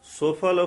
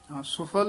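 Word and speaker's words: ਸੁਫਲ: पला प्रभ के सिमरन सुफल फला सुफल ही उच्चारण करना है सफल नहीं कहना से सिमर जिन आप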